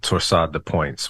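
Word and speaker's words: torsade de pointes: rare heart arrhythmia called torsade de points, which is twisting of points. That's what that means in French.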